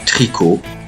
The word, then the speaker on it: tricot: muettes également avec ces trois voieslà par exemple tricot peau abricot vous voyez bien que le thé est mué donc on ne dit pas tricote pote abricotte Non mais bel et bien tricot pour abricot.